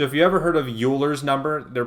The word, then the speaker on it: Euler: you ever heard of Euler's number they're pronouncing it wrong it's actually pronounced Euler's number like oil the stuff you put in your car and what that number